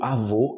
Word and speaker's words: avô: do avô e avó quando eu falo avô em português eu tô falando do pai do meu pai ok homem OK avô o o como fala avó é a mulher amanhã na minha mãe e minha avó a pronúncia no final desse o é muito diferente em português qualquer brasileiro sabe a diferença mas a galera tá